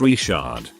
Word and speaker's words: Richard: Granted, this is Louisiana, so the last name is pronounced Richard.